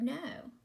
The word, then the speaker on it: know: I know how to say the word no. This no means I will not know. Okay, 2 different things. This looks like the word now, but when you have that K at the beginning, it is the word no.